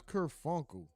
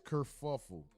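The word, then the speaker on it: kerfuffle: He said, I thought it was kurunkle. I hate I don't even like saying that. Sounds stupid. Let's just see. I don't even know how to spell that. That's not a Oh, it is kurfuffle.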